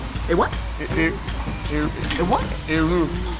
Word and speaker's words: roux: A roux. It's a roux, honey. You want to say roux? That X is silent.